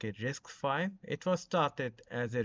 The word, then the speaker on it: RISC-V: The rest five normally it was origin story pronounced as a like a risk five.